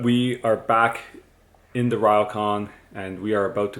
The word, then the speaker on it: ryokan: Another amazing dinner here at our ryokan, which we've been mispronouncing. It's actually ryokan.